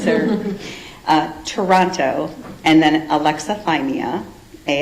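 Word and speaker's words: alexithymia: So alexathyia is it's more of a trait than a formal diagnosis.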